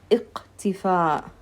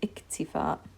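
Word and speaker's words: اكتفاء: If it was a qaf, it would have been iqtifa, iqtifa. But I said iktifa.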